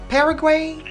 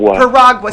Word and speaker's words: Piragua: Is it Paraguay? It's close. Piragua.